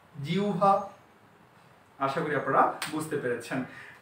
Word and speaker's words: জিহ্বা: জি, হ এর পরিবর্তনে হবে উ আর ব এর পরিবর্তনে হবে ভা, জিহ্বা।